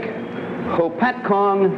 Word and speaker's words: Hopatcong: Frank Smith a Salesman and repairman from Lake Hopatcong New Jersey you said it right what uh